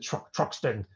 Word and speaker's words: Truxton: That's how to pronounce it, Truxton.